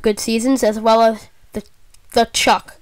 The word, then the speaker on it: Tkachuk: seasons, as well as the Chuck. I believe that's how you pronounce it, Matt. I call him Tkachuk, but I'm pretty sure that's wrong.